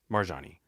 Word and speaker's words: Marjonni: she, And so how is it officially said? Marjonni. You said it right. Marjani.